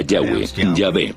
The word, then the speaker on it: Yah: íntimo y personal que normalmente se pronuncia yah los pasajes con el